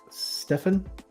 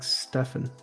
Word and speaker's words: Stephen: steven is pronounced like stefan sorry for s beam stephen is pronounced like stefan so does that mean